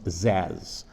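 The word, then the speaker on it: Szasz: the name of Thomas zaz a Hungarian name his name is spelled with an SZ at the beginning and an SZ at the end with an a in the middle s z Thomas zaz um for many many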